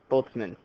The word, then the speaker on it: Boltzmann: Ludwig, sorry, Boltzmann, got to pronounce it right. German.